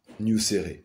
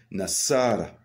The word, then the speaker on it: Nassara: de le faire car on ne dit pas news on dit n'asara et quand vous prononcez